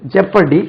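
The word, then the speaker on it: jeopardy: முன்னால இருக்கக்கூடிய டீத்துக்கு இன்சைசர் இது வந்து டென்டிஸ்ட்க்கு வரக்கூடியது ஜெப்பரடி ஜெப்பரடைஸ் அது ஜியோபடி மாதிரி இருக்கு ஜே இ ஜே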